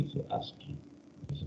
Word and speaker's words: ASCII: La se pronuncia así, ASCII. Ahí dice ASCII.